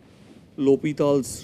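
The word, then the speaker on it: L'Hôpital: called the lal's rule though in India we'll call it l hospitals rule but if you go by the French pronunciation it is called lal's Rule he was a he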